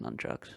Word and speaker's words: nunchuckus: correctly lyric is indeed swinging nunchuckus pronounced nunchucks I thought I did